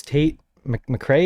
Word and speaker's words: Tate McRae: see you um favorite influencer you said was tate mcrae is that was how you say it yeah